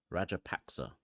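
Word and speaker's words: Rajapaksa: how to say it it's rajer PAC rer rajer paxa uh through the covers is there a Fielder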